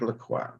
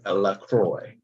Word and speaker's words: LaCroix: I am your host LaCroix or a Lacroix that's the way I used to say my name when I first started what is going on people